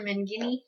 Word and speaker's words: Mangini: Menginzi or something. I don't know. I can't pronounce his name. So it's like, Dr. Mangini. oh, Dr. Mangini.